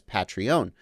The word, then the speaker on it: Patreon: more compelling Scott Barnes why do you pronounce patrons as patrons but patreon as patrie own because the name of the website is patreon REO n that's the name of the site but the people are patrons a patron is someone